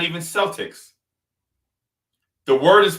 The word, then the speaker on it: Celtic: It's not even Celtics. The word is pronounced Celtic. But since they use a soft C, they say Celtics.